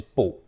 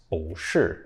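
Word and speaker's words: 不: used to negate something normally this character is the fourth tone but if bu is followed by another character with the fourth tone then bu changes to BU with the second tone one example is with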